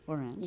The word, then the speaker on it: Orans: Orans, You yes.